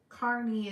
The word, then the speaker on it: Carney: Oh, Gray said Carney is how it's pronounced.